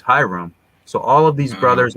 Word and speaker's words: ihram: And the name of this cloth, interestingly, is the ihram, which phonetically is Hiram.